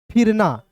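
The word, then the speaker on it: फिरना: फिर ना।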